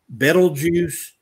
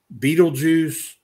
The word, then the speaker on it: Betelgeuse: in orion uh is sometimes pronounced betelgeuse beetlejuice uh there are even